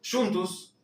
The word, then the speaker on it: juntos: Se escribe igual que en el español juntos, pero la pronunciación es totalmente diferente. La J se va a pronunciar como una yun y la sílaba final con o la vamos a pronunciar como una u. Juntus. Juntus.